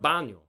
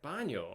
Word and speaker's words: baño: Today you learned the word baño.